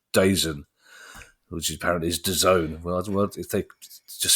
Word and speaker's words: DAZN: laugh at me like when I try and pronounce DAZN, which apparently is DAZN.